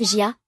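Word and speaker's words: 家: Il se prononce Jia, regarde, il y a une maison et des gens.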